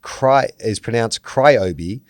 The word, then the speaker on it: Ryobi: 2, the tool brand is pronounced Cryobi, like the sound that wakes you up at night, plus Old Ben from Star Wars. The reason being the brand has nothing to do with rye, and within 20 or